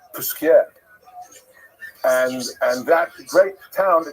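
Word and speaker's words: Posquières: And in Jewish life generally we call it pas but Pas is somewhere in you know that's in Lithuania maybe but it's not the real correct pronunciation. So it's Pusier and and that great town now it's not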